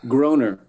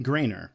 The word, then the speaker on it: Groener: actually the same sound, they'll just say Groner, and that works out. It works out just fine. Cool. All right. Yeah, I figured that was too easy. I thought it because it was spelled like Matt Groening, that it would be pronounced Grainer. So No.